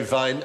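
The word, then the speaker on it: Wein: But the Germans say vine and spell it with a W.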